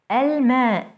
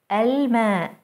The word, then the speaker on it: الماء: Moon letters allow the L before them to be pronounced fully as L.